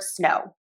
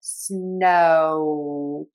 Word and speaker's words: snow: Some of you may asking what about the word snow. Technically that is the O vowel. Snow. I do not say snow with a W sound. It's just the O.